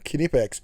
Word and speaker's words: Knipex: You pronounce the K.